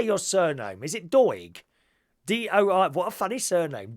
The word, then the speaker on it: Doig: Is it Doig? D-O-I. What a funny surname. Doig.